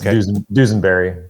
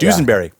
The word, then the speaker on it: Dusenbury: so for for people listening this is dusenbury is that my pronouncing that correctly it's close enough yeah it's dusenberry but dusenberry all right very very close dusenberry now I've